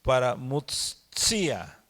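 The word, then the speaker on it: παραμυθία: Y otra palabra para consolación es paramutsia, como escrito como la anterior, paramutseomai, nada más que es paramutsia, con ese acento en la I, y también significa consolación, ¿sí?, propiamente abstracta.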